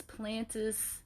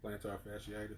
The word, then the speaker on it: plantar fasciitis: i forget how it's said i know it's plantus plantar fasciitis yes that's it he said it and i